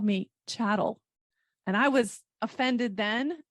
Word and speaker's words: chattel: before when women were chattel that's a fancy legal term it is I like that word I know I know chatel that's the French pronunciation um honestly when I